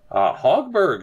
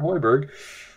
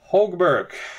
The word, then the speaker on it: Hogberg: Hogberg, apparently, is how you pronounce that, not Hoiberg. Hogberg.